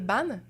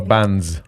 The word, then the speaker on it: Ban: plateforme pour spécifier que mon nom de famille c'est Ban Pas band ou non banes parce que je sais que c'est un peu confusing le s est là mais on le prononce pas mais c'est nu ban ah des fois je